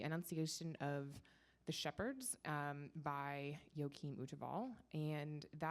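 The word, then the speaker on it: Joachim Wtewael: And it was for this exhibition titled Pleasure and Piety, the Art of Joachim Uteval. And that is a terrifying name to pronounce. But that's how you do it.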